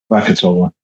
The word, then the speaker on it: Krakatoa: Um I don't know thousands of was crack how do you pronounce it? Kraka Krakatoa.